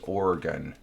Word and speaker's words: Oregon: figure it out yeah it's pronounced oregon organ yes and good